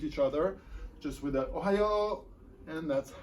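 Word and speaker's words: おはよう: And good morning is pronounced the same way as an US Midwest state, and that would be, of course, Ohio. It's spelled O-H-A-Y-O. It is pronounced Ohio.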